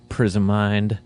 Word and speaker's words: Prismind: Our guest today is Kereliuk, guitarist of Prismind. You got that right. You got the pronunciation of the band right.